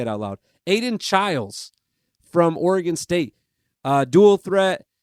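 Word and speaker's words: Chiles: I just wrote it down phonetically too. Chilas.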